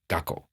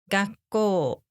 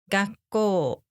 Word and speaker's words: 学校: School in Japanese isn't 学校, it's 学校 Quick, how many mora is that? 4. Correct. Even though it is 2 syllables, you should pronounce the word as if there are 4 beats.